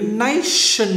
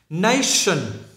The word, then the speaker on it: nation: Đuôi in này á, thì các bạn để ý này, cái chữ nation này á là các bạn phải phát âm là sh. Đó, các bạn nhìn nha. Nation, nation.